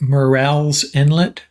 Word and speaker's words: Murrell's Inlet: you this time we have David rouard from Merl's Inlet Merl's Inlet South Carolina is that right Dave that's correct I did I pronounce that right morel's Inlet yes yes okay very nicely done yeah and